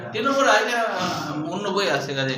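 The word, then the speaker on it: Ctenophora: টেনোফোরা, হ্যাঁ, সি টি এ হবে, সি টি টেনোফোরা, হ্যাঁ, না টেনোফোরা ওই সি উচ্চারণ হয় না, টেনোফোরা এটা অন্য বই আছে, কাজে এটা মনে রাখতে হবে।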